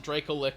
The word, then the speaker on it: Dracolich: I always pronounced it Dracolich or Dracolith. You guys, I'm but canon it is probably Dracolich, but I pronounce it Dracolith or Dracolich because I'm not gonna call it a Fuck lich.